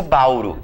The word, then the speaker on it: Bauru: Então, por exemplo, se eu pegar a palavra Bauru, por exemplo, Qual é a sílaba tônica dessa palavra? É uru, eu não digo bauru, eu digo bauru.